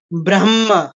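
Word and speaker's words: ব্রহ্ম: ছাড়বো রাক্ষসা ইয়া তারপরে ব্রাহ্মা ব্রাহ্মা হ দিয়ে ধরবো মদে ছাড়বো এখন ওকে বলতে পারেন হ দিয়ে ধরলে মদে ছাড়লে তো এরকম হবে ব্রাহ্মা ব্রাহ্মা না এখানেও আবার সিস্টেম আছে হ এর পরে যা থাকবে হ দিয়ে ধরবো ম দিয়ে ছাড়বো ঠিক আছে শুধুমাত্র নাসিক্য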